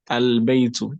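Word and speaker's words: البيتُ: Al baytu. Did you pronounce the lam sukun? Yes. Yes. So is that under shamsiya, sun, or qamariya, moon? Moon letter. So al. Sorry. Al baytu.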